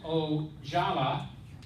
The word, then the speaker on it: Ojala: Now, Jim Ojala, Did I say it right?